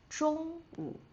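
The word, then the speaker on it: 中午: shàngwǔ shídiǎn And, lunch time or in the middle of the day, we would say zhōngwǔ.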